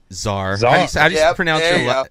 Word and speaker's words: Szar: there's a silent s there's a silent s it throws people yeah well I get